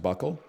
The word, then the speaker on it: buccal: It's pronounced buckle.